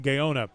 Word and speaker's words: Gaona: I believe that's pronounced Gaona. Gaona.